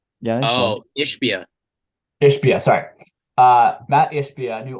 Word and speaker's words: Ishbia: hope is to call up how do I pronounce the last name? Matt Yoshiba, is that his last name? New owner of the Suns. Is that his name? Yeah, I think so. Oh, Ishbia.